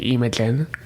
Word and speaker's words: Imogen: of elsie then uh imogen which i recently learned is actually imogen as far as pronunciation goes then imagine with an